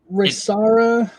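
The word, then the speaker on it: Rayssa: It's like Risara. It's pronounced with an H though, not an R.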